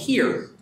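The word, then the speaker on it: xeer: But there's one that precedes that, which is called hir, the word that's spelled with an X up on my slide.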